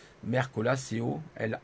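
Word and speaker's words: Mercola: vous tapez docteur merco là comme ça se prononce merco la seo est là à la fin voilà et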